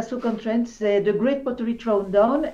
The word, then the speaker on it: Stoke-on-Trent: C'est Stoke-on-Trent, et donc en Angleterre, je devrais prononcer Stoke-on-Trent.